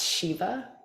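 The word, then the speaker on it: Siva: that's persephone this one s-i-v-a that's shiva the shiva asteroid shiva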